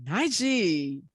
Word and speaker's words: Najee: i have one here to us today mr naiji i like the way you say my name